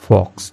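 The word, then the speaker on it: folks: द्वारा ऑल the village फॉक्स ठीक है इसमें एल साइलेंट होता है फॉक्स का मतलब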